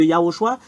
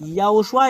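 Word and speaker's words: יההוֹשֻׁע: également et c'est ce yahoshua qui utilise les gens pour tier un nom Yehoshua c'est vraiment différent de yahoshua c'est pas pareil yahoshua et Yoshua Yoshua c'est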